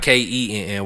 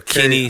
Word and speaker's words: Kinny: So Kenny is not Kenny, it's Kinny. Okay. So Kinny.